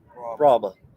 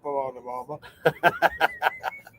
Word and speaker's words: Brahma: Brahma, I believe it's pronounced. Brahma. Not Brahma.